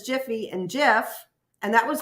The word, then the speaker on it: Jif: I remember Jiffy, and it's Jif. And it's Jif. Yeah, and like Mopar Bill says, we spelled out Meyer. Apparently we didn't. We were saying it wrong as children.